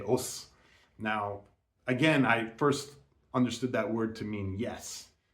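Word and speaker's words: 押忍: At least in martial arts, we have this word called os, and it's pronounced that way, with the kind of a strong, short accent.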